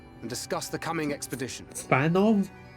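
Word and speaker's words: Fanow: Fanov? You pronounced the W as a V? Alright, sure.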